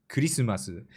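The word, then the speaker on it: クリスマス: is hilarious but like Christmas in English has two syllables Christmas and in Japanese it's cyu kurisumasu yeah it's uh it's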